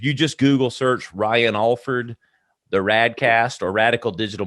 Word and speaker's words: Alford: a-l-f-o-r-d uh for people at home but it's pronounced alford um did you get that southern it's kind